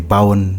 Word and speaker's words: Bau: Bowen. How do you spell that?